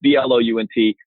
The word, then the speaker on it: Blount: Last name is pronounced Blount, but it's spelled Blount. So for most of the country that don't live in the Southeast, it's a pretty tough thing. But it's Blount.